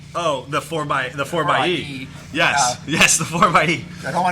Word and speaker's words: 4xe: Oh, the 4xe.